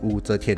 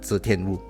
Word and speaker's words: Wu Zetian: Yeah, I pronounce that Wu Zetian, not Zetian Wu.